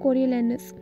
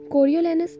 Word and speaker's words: Coriolanus: है the tragedy of कोरियोलैनस. कोरियोलैनस एक ऐसा वर्ड है जिसको हर इंसान अपनी मर्जी के मुताबिक प्रोनाउंस करता है, लेकिन इसकी दो प्रोनाउंसिएशन है जो कि बहुत ज़्यादा फेमस है, कोरियोलैनस एंड कैरियोलैनस.